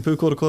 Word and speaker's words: Pūkoro: noticed, they said, oh, you've added in like more syllables for one of the towns. I'm like, yeah, it's Pūkoro Miranda. It's 13 degrees in Pūkoro Miranda.